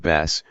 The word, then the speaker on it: bas: her Parisian childish lips formed the word bass, pronouncing it with a desire that made the a sound almost turn into a short, cheerful o that exploded in the word bot.